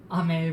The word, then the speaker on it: Ame: how to find it ame is pronounced ame rather than am yes goddammit tarana tartu